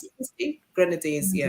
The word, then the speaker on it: Grenadines: How do you pronounce Grenadines. it? Steve? Grenadines, yeah. Grenadines.